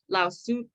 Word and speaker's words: Lao Tzu: Lao Tzu, that's how you say it.